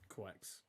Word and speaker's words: Quex: How is the Contamination Mage pronounced? Quex. Oh, it's not. No, that you don't over. That is Quex.